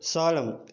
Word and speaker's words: solemn: ఓకేనా, ఇప్పుడు next సాలం, SOLEMN.